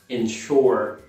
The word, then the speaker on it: ensure: Quero destacar aqui o verbo ensure, que significa garantir ou assegurar em inglês, ensure. E você conhece já a pronúncia do shore, a palavra shore, so ensure, ensure.